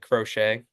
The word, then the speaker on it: Crochet: had Sayang I figured you guys would say crochet is that how you pronounce that yeah yeah but so since I